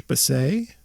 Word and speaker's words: Baasay: Ward 8 candidate Josh Bassay drives a Mustang with license plate Bassay, and that's spelled Baasay.